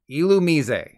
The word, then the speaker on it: Illumise: on the word illuminate so I don't know where they got the pronunciation of illumise regardless there you go illumise it hurts me to say it like that next up I don't